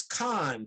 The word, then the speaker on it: Cahan: my last name is khan did you did you say that i i couldn't hear it no i didn't i pronounce it like phonetically and actually um khan